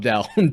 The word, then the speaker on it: Lobdell: Lobdell, two syllables starts with a Dell.